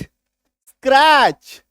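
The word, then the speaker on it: scratch: अभी देखो बी ए टी सी एच टी को काट दो। टीसी एच दिखा। टी को काट दिए। बैच एस सी आर टी सी एच स्क्रैच डब्ल्यू ए टी सी एच वॉच क्यों क्योंकि टी को काटना है टी को मान के चलो है ही नहीं एच आई टी सी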